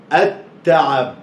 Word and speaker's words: التعب: والتعب، طب شيل الواو كده، اسمها ايه، التعب، التاء، نطق الالف مفتوحه اهي ونطق التاء مرتين، خد بالك، نطق الالف